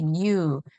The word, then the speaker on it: knew: 자, K가 발음하지 않는다고 했어요. for he knew.